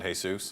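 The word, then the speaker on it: Jesús: Mexican people there and they love the name Jesus but they pronounce it hey soos yeah and I was okay what's your name goes hey soos I go I was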